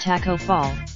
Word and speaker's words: Taco Fall: Taco Fall, the 7'6" Senegalese center whose name is pronounced like taco, is actually really good.